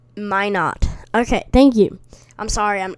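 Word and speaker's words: Minot: okay in north dakota you said mina min ot it is pronounced my not okay thank you i'm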